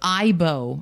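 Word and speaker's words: Aibo: which was made by Sony hmm he says ebo offers early evidence though with I bow I pronounced I know we're gonna love robots it's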